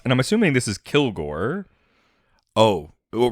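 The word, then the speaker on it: Kilg%re: But yeah, his name is spelled KILG %RE. But yeah, it's Kilgore is the idea.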